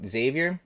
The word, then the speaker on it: Xavier: Low key, I just made my friend Xavier, he pronounces his name Xavier, as in French, and we bully the shit out of him, don't you worry.